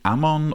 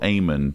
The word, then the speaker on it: Amon: And this scene is in part one, and we've just witnessed the assassination of Josiah's father, King Ammon or Amon, depending on your preference in pronunciation.